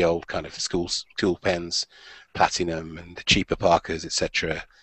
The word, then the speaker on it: Platignum: Would have been a Platinum, not the Platinum in terms of the Japanese Platinum. It is spelt Platignum, P-L-A-T-I-G-N-U-M. Platinum.